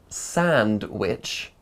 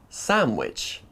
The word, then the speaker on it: sandwich: an egg sandwich now the word sandwich has an um followed by a duh doesn't it or does it listen again what sound can you hear an egg sandwich it's a sandwich it's a sandwich it's an egg sandwich instead of sand which we hear sandwich that's pretty crazy right so what is going on well first the D disappears in between two consonants you might remember this